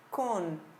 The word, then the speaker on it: con: E no espanhol eu pronuncio com esse N presente, tá? Eu não oculto esse N ou não faço O nasalizado como normalmente nós fazemos no português com as palavras que terminam em M. Eu vou fazer con. Con. O N é pronunciado, ok?